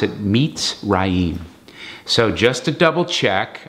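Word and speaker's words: מצרים: okay that's how you spell it but you pronounce it meets Rahim so just a double check I checked with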